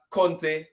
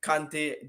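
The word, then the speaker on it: Kanté: Paul Pogba no uh Conte kante depending on where you come from another pronounce it those two are out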